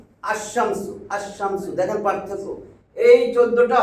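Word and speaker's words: الشمس: আল আল যোগ করব আলশামসু পড়া যায় আশামসু আশামসু দেখেন পার্থক্য এই 14টা হরফে আলিফ লাম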